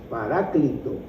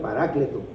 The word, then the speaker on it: paráclito: Pero entonces Él intercede allá, pero mandó otro intercesor acá, que es la palabra paráclito o paracleto, como lo pronuncia la mayoría, parácleto, que quiere decir ayudador, consolador, abogado, consejero, que es el Espíritu Santo que está con nosotros.